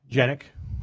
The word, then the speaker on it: Janik: Our first recipient this evening is Rich Janik. Am I pronouncing that correct? Janik?